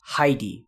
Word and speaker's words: Heidi: imported into Japanese but I think it's best to just pronounce it like the original German would be so it's Heidi I always thought this